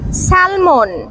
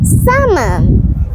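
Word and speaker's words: salmon: এটা উচ্চারণ হবে না এটা হবে comfortable comfortable সালমন সালমন নো নো নো নো এটা উচ্চারণটি হবে না হবে সামান সামান জুয়েলারি জুয়েলারি নো এটা হবে না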